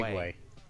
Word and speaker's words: segue: yes that's the way it's written but it's pronounced seg seg way well your the other segue s g w